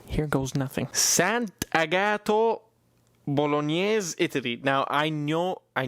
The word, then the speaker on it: Bolognese: goes nothing Sant agato Bolognese Italy now I know I know now I know that it looks like Bolognese but it's not it's Bolognese Bolognese Bolognese Bolognese whatever